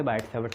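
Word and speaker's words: Biot–Savart: नाम तो कुछ अलग है, पर इंग्लिश में आप उसे बायट-सैवर्ट लॉ बोल सकते हो। उसमें कुछ चीज़ें साइलेंट होती हैं, बायट-सैवर्ट लॉ, ये जो वर्ड है इसमें कुछ चीज़ें साइलेंट होती हैं।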